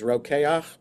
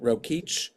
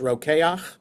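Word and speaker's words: Rokeach: Just by the way a kosher brand is roak or maybe some people pronounce it roich like reach for roach but it's roak is the brand it's from this word um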